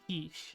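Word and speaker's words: quiche: something making spinach bacon quick right now is that how you pronounce it quick wish I don't know cheese onion oh that sounds so good kich oh kich okay that's interesting goes to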